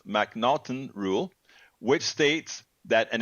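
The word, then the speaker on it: M'Naghten: should be familiar with the MC the mnon pronounce mnon rule which states that an individual suffers from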